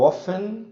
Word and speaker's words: often: Então, where, what time, when, why, who, how often, repara que esse T não pronuncia, how often e how long, ok?